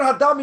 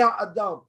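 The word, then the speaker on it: האדמה: The word hadama, you say ha'adam. You say ha'adam. Yeah, that's the wrong word.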